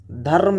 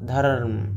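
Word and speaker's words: धर्म: ನಾನಿಲ್ಲಿ ಬರೀತೀನಿ ಇಲ್ಲಿ ಧರ್ಮ ಧರ್ಮ್ ಎಂತಕಂತ ಶಬ್ದವನ್ನ ಬರೆದೆ ಹೌದಾ ಇಲ್ಲಿ ಧ ಆಗಿಂದ ಯಾವ ಉಚ್ಚಾರ ಬರ್ತದರಿ ರ ಪೂರ ಉಚ್ಚಾರ ಮಾಡಂಗಿಲ್ಲ ರ ಅರ್ಧ ಉಚ್ಚಾರವನ್ನ ಮಾಡ್ತೀವಿ ಅರ್ಧ ಉಚ್ಚಾರ ಧರ್ಮ ಧರ್ಮ ಹೌದಲ್ಲ ಹಿಂಗ ಅರ್ ಉಚ್ಚಾರದ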